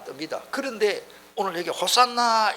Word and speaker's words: 호산나: 그런데 오늘 여기 호산나 할 때에 대문자를 이렇게 호자를 갖다가 오메가 그다가 탁 이렇게 심표를 하면은 거꾸로 심표를 하면 히읗 발음이 나기 때문에 호산나 이렇게 외치게 된 것입니다.